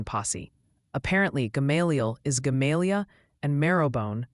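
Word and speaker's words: Gamaliel: Also, quick PSA from the pronunciation posi. Apparently, Galial is galia and meabone sounds more like me.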